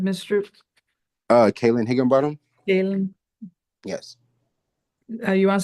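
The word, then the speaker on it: Kaellan: Kayen. Yes. You want to spell it for me?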